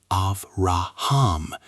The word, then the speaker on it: Abraham: Abraham is pronounced Avraham.